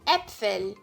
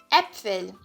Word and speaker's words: Äpfel: O A-Umlaut, né, é esse A tremado aqui e ele tem som de E. Então, sempre que você vê essa letrinha aqui, você vai pronunciar ela como E. Um exemplo de palavra é a palavra Äpfel.